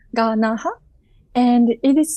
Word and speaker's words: Ganaha: So I think, and also, my name, family name is Ganaha. It's three syllable, Ganaha.